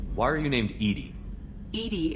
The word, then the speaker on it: EDI: are you named edie edie is the phonetic pronunciation of edi that is an acronym for enhanced defense intelligence ah okay where are